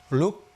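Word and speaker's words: lúc: 시라는 것은요 어 베트남으로 룩 룩 뭐죠 룩 머저 여기서 룩 할 때요 우리가 보통 룩 룩 이렇게 발하는데요 그렇게 들리지만 혀를 실제 발음은 혀를 이렇게 올립니다 들어 올려요 여기서 내뱉니다 룩 천정을 긁어서 룩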